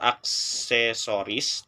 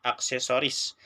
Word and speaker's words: aksesori: Kesalahan terjadi pada kata aksesoris karena penambahan fonem vokal E dan fonem konsonan S yang seharusnya aksesori menjadi aksesoris.